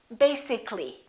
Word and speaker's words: basically: let me show you when we say the word basic it has two syllables if we add a l l y we don't say basically this a disappears so the a is not pronounced and we say basically take a look at